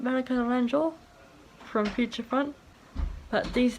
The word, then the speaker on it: Naranjo: It's not Monica Naranjo, it's Monica Naranjo.